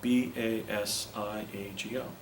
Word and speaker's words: Basiago: kind of unusual said b a s i a g o he said well that sounds like basiago you pronounce it what is it and I said Bago and he said Italian